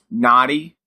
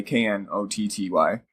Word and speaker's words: Knotty: I went to the Naughty Brewery, which is spelled with a K, Knotty.